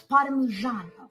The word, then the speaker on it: Parmigiano: Not how you say it. It's parmigiano. You gotta get the O in the end.